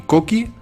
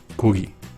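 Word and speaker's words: 고기: No digáis ni koki ni gogi, es kugi.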